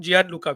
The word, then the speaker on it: Gianluca: Did I say the first name wrong? Gianluca Vialli, yeah.